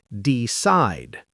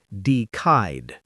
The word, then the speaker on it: decide: Remember in decide the C sounds like an S. So we say decide, not decide.